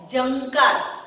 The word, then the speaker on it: झंकार: आप बोलोगे तो आपके इसके अंदर ना का उच्चारण आएगा जंकार। यहाँ पे कहीं पे भी न लिखा नहीं हुए, फिर भी वो क्या उच्चारण, वो अनुनासिक, वो नाक के द्वारा वो आवाज आती है जंकार।